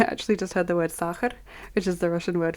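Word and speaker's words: сахар: So I actually just heard the word sakhar, which is the Russian word for sugar. And it's spelled like S-A-Ch, and then another A, and then an R.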